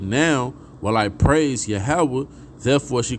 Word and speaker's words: Yahawah: Proper way to say that name would be Yahawah. All right. Yahawah, okay, which means celebrated.